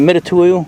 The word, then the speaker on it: Mitutoyo: Mitutoyo, depth gauges. Is that how you say it, Mitutoyo?